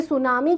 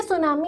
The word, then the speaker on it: tsunami: एक तो आपको दिख रहा है सू, इसको प्रोनाउंस किया जाता है सू, और इसके अलावा एक और दिख रहा है नामी, तो सू और नामी।